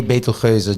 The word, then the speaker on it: Betelgeuse: I say Betelgeuse just to make sure that people understand it's not spelled like Beetlejuice.